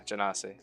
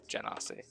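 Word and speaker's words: genasi: do it jan ossie oh yeah okay yeah jannasi that's how you say it jenna see and unfortunately even if you go back to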